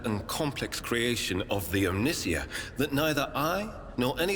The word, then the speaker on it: Omnissiah: Do they really pronounce it Omnicia? So it's more like, it's obviously a play on the Messiah. But they're also playing with omniscient, but it's spelled like Messiah. So I've been saying Omnissiah.